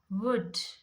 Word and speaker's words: would: So when does L become silent? Should, could, would. This all words L is silent.